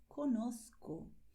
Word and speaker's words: conozco: And pay attention because I pronounce conozco with a lisp because I speak the Spanish that is spoken in Madrid and in Spain in general, okay?